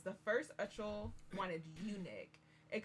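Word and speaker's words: Uchel: I feel like we had the pronunciation right the first chapter. I don't remember this pronunciation. I think it's Ickle. Ickle. I think so.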